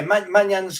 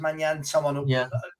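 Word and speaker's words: Maignan: Well, yeah, Manyan's coming back. I think it's pronounced Manyan.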